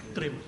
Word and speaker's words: त्रिम: right अच्छे से शवास खींच और त्रिम का उच्चारण करेंगे टी आर आई एम त्रिम अच्छे से शवास खींचें त्रिम त्रिम